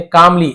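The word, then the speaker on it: calmly: उस बूढ़े व्यक्ति ने कामली एल साइलेंट होता है।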